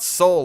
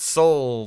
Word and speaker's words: Sol: No, not soul like like South Korea. Nor soul as in what Pax does not have, but soul like the sun.